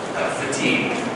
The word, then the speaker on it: fatigue: Yeah. Fatigue. Two syllables. Fatigue. It looks like fatigue, but fatigue.